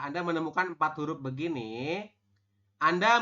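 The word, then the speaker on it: 앉: hanya an seperti ini kenapa yang zetnya dihilangkan karena memang aturannya seperti itu huruf terakhir tidak dibaca jika ada empat huruf seperti ini Oke tulisannya Anet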